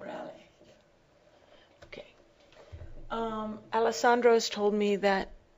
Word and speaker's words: Reale: It's the last letter is a E. An E and not an I. Reale.